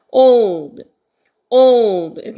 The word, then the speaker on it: old: 하 이렇게 되 그다음에 오우 이것도 두 개 오오 이렇게 됩니다 old L 말이죠 L 바르면 혀가이 천장 위로 올려 가야 되기 때문에 으 으 이렇게 당기면서 위로 올리셔야 돼서 old old 이렇게 됩니다 그냥 올가 아니고 오예요 이렇게 해서 How old 이렇게 되는 거죠 그다음에이 발이죠